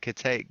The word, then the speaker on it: Kittay: Um, and on that kind of note, this is something that I wrote about my best friend passing, and Kittay, she like kitty, but Kittay.